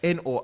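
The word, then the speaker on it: N.O.R.E.: And it's hosted by this guy, Nore. I can pronounce as Nor and DJ EFN, and some other guys.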